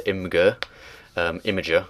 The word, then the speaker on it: Imgur: The screenshot was a link to Imager, which I think is how it's supposed to be pronounced.